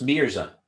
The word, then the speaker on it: Mirza: I was just going to ask purposely didn't pronounce your surname because I didn't want to get it wrong so it's Mirza Mirza Mir is that a so some people